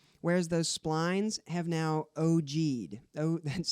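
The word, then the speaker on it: ogee: they've adjusted perfectly whereas those splines have now oh g'd oh that's spelled og ee it's a word and it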